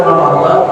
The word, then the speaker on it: Ramadan: Ini yang puasa awal itu selama wajib an-adai babi syahri, yang lebih tepat bacanya adalah Ramadan.